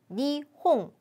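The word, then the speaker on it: 二本: 거 배운 적 있죠 앞에 숫자 2가 왔을 때는 니홍 홍으로 발음을 해 주셔야 되겠습니다 정원에 나무가 두구루 있습니다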